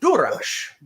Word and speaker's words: DuraS: Choch, the verb, which means to kill, and Durash, who is Duras, right? Yeah. And so we want to say Worf kills Duras. So the simple way to construct that in Klingon is Durash Choch Wotriv.